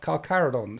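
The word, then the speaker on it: Carcharodons: Cararadons sounds like how Yes, it's pronounced like that, but it's written in Latin with a ch.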